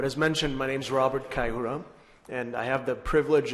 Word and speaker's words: Kayihura: Robert Kayihura, I don't know if I pronounced it correctly.